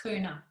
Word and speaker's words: Kaurna: Kaurna. Kaurna. Is it Kuna? I think it's pronounced Kuna.